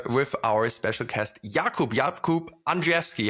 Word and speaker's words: Andrzejewski: No, we have some really interesting topics to cover with our special guest, Jakub Andrzejewski.